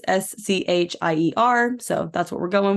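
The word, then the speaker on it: Schier: So I don't really know where they would have gotten it from either, but they pronounced it Shear. It's Scheier.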